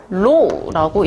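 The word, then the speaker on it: ρ: 자, 밀도는 기호로 이렇게 쓰고 로라고 읽습니다.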